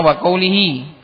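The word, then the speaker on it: وقوله: Jadi bacanya waqulihi karena susunan aslinya wahwu quiihi taala gitu. Jadi jangan salah detail bacanya jangan salah.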